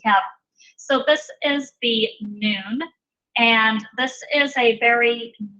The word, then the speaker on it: Nun: So this is the form that the Nun takes when it is the last letter in the word, and it's pronounced exactly like our N.